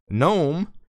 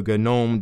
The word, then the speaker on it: GNOME: The GNOME devs originally wanted GNOME pronounced GNOME because the G in GNOME stands for GNU.